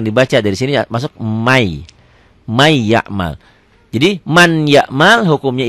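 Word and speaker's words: مَنْ يَعْمَلْ: iya Ma iya Mal ya tulisan dan bacaan beda ditulisnya Man ya'mal dibaca jadi May jadi double double Y ya n-nya hilang Ma iya Mat Yauma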